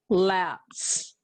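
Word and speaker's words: lapse: here lots let's set laps we don't hear that final e it's silent l-a-p-s-e is how it's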